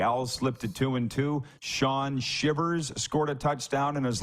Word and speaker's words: Shivers: Is it Shivers or Shivers? Shivers. Okay. Got it fixed.